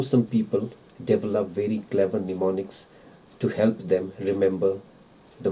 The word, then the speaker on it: mnemonics: have is mnemonics this is how it is pronounced mnemonics and how it is spelled m n e m o n i c s mnemonics what it means it means tricks that